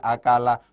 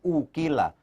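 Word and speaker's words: أَكَلَ: diikutkan pada kaidah majhul Bukan ukirlah tapi akalah bukan ukila bukan ukila tapi akala Hai begitu tapi akalah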